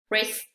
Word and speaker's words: wrist: Podemos aquí observar una regla que cuando tenemos la letra W y está seguida de una R, entonces también esta W va a ser muda, la vamos a ignorar, vamos a pretender que no está ahí, está, pero no se pronuncia.